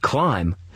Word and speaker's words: climb: and to spell them in the word climb you don't hear the b on the end or in the word